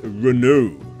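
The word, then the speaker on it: Renaud: cancelled eh this is renew yes renew give it a rest comment section I actually had to look up French interviews to make sure I pronounce that one right anyway to be fair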